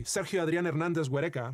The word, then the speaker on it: Sergio Adrián Hernández Huereca: Mesa, where a 15-year-old Mexican boy, Sergio Adrián Hernández Huereca, that's how you pronounce his name in his native Spanish, was playing with friends near the border when a U.S.